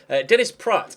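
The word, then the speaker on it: Dennis Praet: like you'd say it like this T so Dennis Pratt is how you say that name and I'll try and get that correct throughout the rest of the transfer window whether we actually go for Dennis Pratt or not is remaining to be seen Mar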